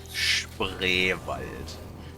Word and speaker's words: Spreewald: You know, good old Spreewald. Lani, can you say Spreewald? Spreewald? Try again. Oh, say it slowly, please. Spreewald.